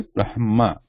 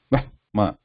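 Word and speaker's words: ब्रह्मा: The pronunciation will be Brahma. So first ha is pronounced with just a consonant, no addition of any vowel. Brahma.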